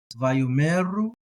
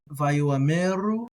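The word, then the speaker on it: וַיֹּאמְרוּ: And in that case, you would say this as Vayomeru, Vayomeru. If I'm trying to pronounce the aleph, then Vayomeru, slightly different.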